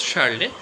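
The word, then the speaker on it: Charlotte: a r l o t e charlet it's pronounced as charlet and she has written a novel which is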